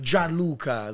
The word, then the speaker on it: Gianluca: to say your name your name is super Italian right like John Luca like g i a